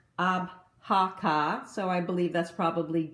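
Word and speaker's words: Avoca: avaca company and I found that it is pronounced abaka so I believe that's probably gelic and you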